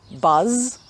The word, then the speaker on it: buzz: so these two words buzz and bus are different at the end sound so buzz has the z sound at the end and bus has this sound at the end one of these sounds is